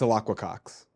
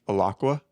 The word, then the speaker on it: Alaqua Cox: It's Alaqua Cox. Yeah, I wouldn't have been able to say that. Can you say it back to me? Alaqua?